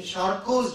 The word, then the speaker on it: Charcot: this literature wise in charcoal's joint the t is silent it's a french name charcoal is joined it